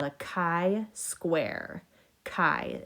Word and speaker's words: chi: called a chi square chi is how you say that and the greek letter